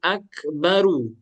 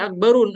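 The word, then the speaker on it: أكبرُ: Akbaru. Tidak boleh akbarun. Akhi akbar. Bukan akbarun tapi akbaru.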